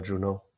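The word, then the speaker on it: Juneau: get very close to, um, how do you pronounce it? Juno. It's Juno.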